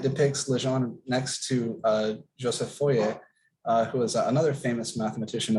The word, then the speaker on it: Fourier: legend next to joseph foyer who is another famous mathematician of the era originator of a thing called fourier we pronounce it the american way now fourier series um really big deal